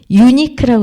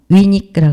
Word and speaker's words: unique: unique라고 읽으면 되지 않죠? unique라고 그래야죠.